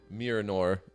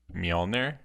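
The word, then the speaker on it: Mjölnir: Wait, can you pronounce that for me again? Miranor. Miranor? Miranor. Yeah, Thor's hammer, bro. Mjolnir? Mjolnir. Have I been saying it wrong?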